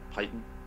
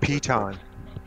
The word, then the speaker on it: piton: Yeah, it's like a python. I'd never know how to say that. Piton. Piton, okay, so like climbing gear.